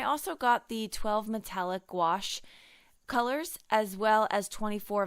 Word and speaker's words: gouache: So I finally mastered the ability to say that word. For the longest time I was saying it wrong. I even threw a goulash in there.